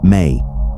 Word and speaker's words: me: Central to Mesopotamian manifestation was the concept of Mi, pronounced May, divine powers or attributes that govern different aspects of existence.